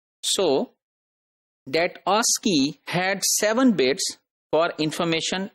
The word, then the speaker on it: ASCII: interchange that is called a SC III and that is pronounced as ASCII so that Oski had seven bits for